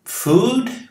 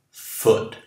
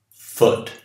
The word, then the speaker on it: foot: Aqui, você pronuncia como food, comida, ou como good? Como good. Foot. E não, esse seu nome é longo, como em food. Este é curto, gutural. Foot. E não food. Não. Foot.